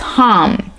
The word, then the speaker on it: Ham: associated with this is hum H am so like ham but it's pronounced hum and that's also how